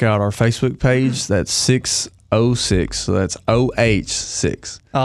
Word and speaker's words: 6OH6: there's no o in numbers wow 606 i never thought about it yeah exactly so that's kind of where we were like okay we're gonna spell it how we say it because that zero is a zero it's not a oh so 606 so yeah